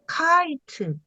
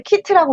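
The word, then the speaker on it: kite: 돼요 크이 요거 무음 아 카 잠시만요 선생님네 카이트 그렇죠 카이라고 읽으시면 됩니다 네네 처음에 이제 키트라고 읽은 거 잘하신 거고요 근데 이제 묵음 2가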